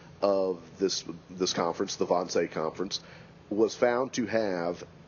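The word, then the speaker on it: Wannsee: of 1942 uh referred to historically as the Vonce conference uh that's spelled W n E.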